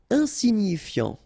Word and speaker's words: insignifiant: Insignifiant. Okay, final T not pronounced, so you've got this IAN, ian, so F before, fiant. Insigni, okay, remember, GNI, ni, insignifiant.